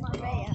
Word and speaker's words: Marbella: Marbella. Marbella. Marbella. Yes. It's spelled Marbella. Pronounced Marbella.